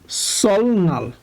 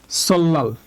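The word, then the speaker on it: 설날: একটা ল ঠিক আছে তো এইটা উচ্চারণ হওয়ার কথা ছিল সলনাল ওকে এটা উচ্চারণ হওয়ার কথা ছিল সলনাল কিন্তু আমাদের রুলস অনুযায়ী এখানে রিউলের পরে রিউল বাচ্চিমের পরে নিউন থাকলে উচ্চারণ হবে ল তাই এটা উচ্চারণ হবে সল্লাল ওকে উচ্চারণ ছিল হচ্ছে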